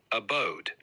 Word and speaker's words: abode: changed their place of Abode Abode that's how how I would say it yes that's correct Abode is pronounced Abode with the emphasis on the second syllable it means a place